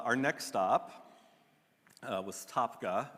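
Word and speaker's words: Tabgha: crazy crazy uh our next stop uh was topka it's spelled t-a-b-g-h-a this is where i've run out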